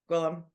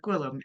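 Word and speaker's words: Gwilym: And also, it means William, but it's pronounced not Gwillem. Gwillem. Yeah, that's right. That's pretty good. Yeah, yeah. It's basically the Welsh version of William, Gwillem, and it's spelled strange.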